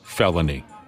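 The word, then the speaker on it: Phelonie: Good for grandma, for standing her ground, The gal said the little girl's legal first name is spelled P-H-E-L-O-N-I-E, pronounced felony.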